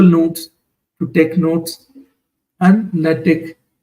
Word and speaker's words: LaTeX: Elsewhere, OneNote or Google Drive or Google Notes to take notes, and LaTeX or LaTeX, sometimes pronounced, to type your thesis.